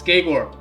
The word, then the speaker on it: Geigor: Yes, it's Geigor. Geigor Fellhand. Or Geigor Fellhand. Sometimes we emphasize the A in gay a little bit more, also it's Geigor.